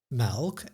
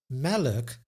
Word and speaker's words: melk: We hear a tiny extra in other words, the schwa, stomme e or the mute e that I discussed in the previous lesson, but we don't write any letter to indicate this sound.